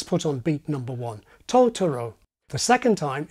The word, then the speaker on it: Totoro: The first time, it's the initial syllable that's put on beat number one, Totoro. The second time, it's the middle syllable that's associated with beat number one, Totoro.